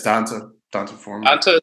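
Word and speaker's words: D'Onta Foreman: Yeah, it's Donta Foreman.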